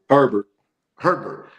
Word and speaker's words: Herbert: This Justin, how you pronouncing the last name? Herbert.